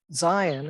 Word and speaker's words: Zeihan: here to say that zion and i think that's actually how he pronounces his name i think everyone has a different way of pronouncing it but i think that's what he does is really focused on